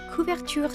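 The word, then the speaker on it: couverture: They use premium ku chur chocolate and this is the perfect episode to pronounce that the proper French way.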